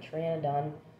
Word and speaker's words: Pteranodon: p right because uh triana done it's actually spelled with um p and p t e r a and o d o n and the p is silent because um i don't